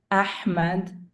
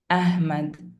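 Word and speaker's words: أحمد: Ha as in Muhammad Ahmad, usually wrongly pronounced as Muhammad, Ahmad.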